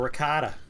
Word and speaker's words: ricotta: people that don't like ragoda cheese or ricotta depending how you want to pronounce it i'm with you creedmoor